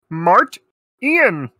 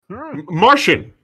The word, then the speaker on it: Martian: pronounce your last name mart ian martian no mart ian typical mispronunciation is it french uh